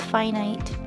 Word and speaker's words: finite: Also, I learned from this shorts that infinite is infinite, but finite is actually pronounced finite.